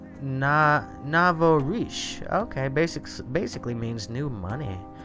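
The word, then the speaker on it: nouveau riche: Emma Andre says it's pronounced Navorish.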